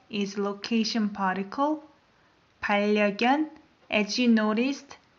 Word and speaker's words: 반려견: 반려견, as you noticed, when I pronounced N of the first syllable, I pronounce it as R because the following syllable starts with R. So you're going to say 반려견.